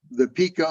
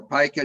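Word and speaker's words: pika: You'll find this high in the Sierras, where the pica or pica, depending on how you pronounce it, this rodent-like rabbit comes out and uses the same latrine all winter long.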